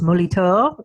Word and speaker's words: Molitor: My last name is in French it's Moltor. It's um and so you'll find the name Molitor all over Paris if you will.